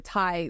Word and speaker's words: Thai: But it's one of those things where Thai literally rhymes with high, and I'm like, why don't you just whatever?